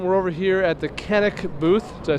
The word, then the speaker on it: Canik: We're over here at the Canik booth.